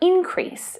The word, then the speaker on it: increase: The same stress pattern is used for increase as well. Increase and increase.